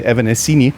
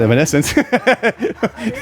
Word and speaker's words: Evanescence: band that some Germans would say still say evanescini but it's called Evanescence when his pen came up the first thing